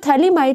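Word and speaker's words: phthalimide: ये जो थैलीमाइड है और इसमें PH जो होता है वो साइलेंट होता है, आप इसको यहाँ से पढ़ते हो, TH से पढ़ते हो, थैलेमाइड।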